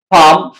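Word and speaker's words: palm: जो कॉमिनेशन है वो जब एल और एम इक आ जाए व के आखिर में तो फिर एल जो है वो साइलेंट बन जाता है बाम पाम ये आप देख सकते हो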